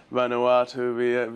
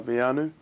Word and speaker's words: Veainu: Well, I've had a lot of pronunciations of of my name. And I've had Vanuatu Vanu just vi and it's gone all over the show. But um the correct way to say my name is Vanu.